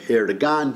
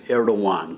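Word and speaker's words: Erdoğan: It looks like Erdogan, but it's Erdogan, because that's how they do it in Turkish, when they went from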